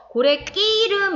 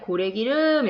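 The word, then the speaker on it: 고래기름: 자 답은 5번 인데요 고래 끼 이름 이렇게 발음 하지 않아요 그냥 고래 기름 이렇게 발음 하기 때문에 무딘 소리가 더 나는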